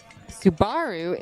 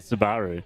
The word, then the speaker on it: Subaru: Subaru is correct.